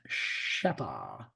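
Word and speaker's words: Rzeppa: here's a different design um this is a shepa joint whoops I did not mean to do that Shea it looks like rppa but it's pronounced sheppa so if you look look um here's your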